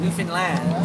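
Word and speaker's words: Newfoundland: peninsulas of New Finland New Finland is how it's pronounced here I'm going on a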